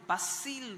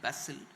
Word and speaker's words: Bastille: our Republic Day our independence day so the basil day it is spelled a b-a-s-t-i-l-e basil so um pm has been invited to participate